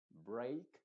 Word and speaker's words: break: es como una excepción normalmente la e a nunca se pronuncia como ei excepto en estas palabras y en estas estos derivados de estas palabras principales que son break stake Great o sea